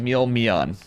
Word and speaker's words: Mon: Mean, I'm saying his name wrong. It's Mon.